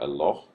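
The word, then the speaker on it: אלוה: Now notice you've got El, and then this is kind of a long O sound, and then H at the end. So Eloh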